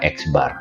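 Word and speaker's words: x̄: itu kita bilangnya atau kita bacanya itu adalah x bar nah rata-rata mempunyai kecenderungan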